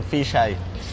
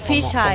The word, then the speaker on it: Phyzh Eye: Se dice Fisay. Fisay. Como ojo de pescado en inglés, ¿no? Ah, ok. Sí. Porque no está escrito como así, ¿verdad? Sí, está okay. Mal escrito. Pero entonces es Fisay.